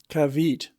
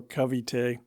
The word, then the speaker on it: Cavite: such as saying Cavite for Cavite, the naval port of Manila, Capiz for Capiz, a town in Panay, and so on.